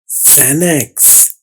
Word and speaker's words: Xanax: अगला लफ्ज है ज़ैनेक्स, XANAX ज़ैनेक्स। ये देखिए ज़ैनक्स, ज़ैनेक्स। ज़ैनेक्स क्या है? ये असल में एक दवाई है, इसका नाम पूरी दुनिया में ज़ैनेक्स ही बोला जाता है। अब इसकी आवाज में एक आवाज तो एक्स और ए से बनने वाली आवाज है जो है असल में जेड और ए की आवाज ज़ै।